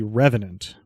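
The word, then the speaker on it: R3venant: The pronunciation of this would be Revenant, but it would be R3 instead of RE.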